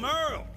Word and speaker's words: Merle: I'm Merle. Spelled like Hurl.